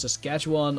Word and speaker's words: Saskatchewan: Yeah, that's how that's pronounced. Saskatchewan or British Columbia.